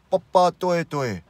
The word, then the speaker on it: Papatoetoe: paw paw twing twing bah ah twee tween Papa Tori Tori then you just speed it up and then the pronunciation will come papa Tori Tori but pituitary